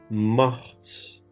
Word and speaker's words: mortes: Elles sont mortes. Telaffuz burada değişiyor. Gördüğünüz gibi, geçmiş zaman fiilinin sonuna eklenen 'e' harfi, öncesindeki sessiz 't' harfini duyulabilir hale getiriyor.